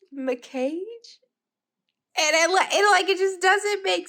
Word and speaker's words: Mackage: it pronounced, but like, if I had to pronounce it, I would pronounce it as Mackage, because I could have sworn this how I heard that it was pronounced. And then I saw that it was pronounced McCage.